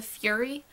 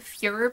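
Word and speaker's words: Führer: they were something else he consistently calls Hitler the fury because he's heard his parents call him the Fuhrer before and he's miss hearing and mispronouncing Fuehrer as which I don't have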